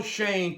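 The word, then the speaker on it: Schoen: Joe's last name is spelled S-C-H-O-E-N. That would seem to spell Shone to me. But it's not pronounced Shone. It's pronounced Shane.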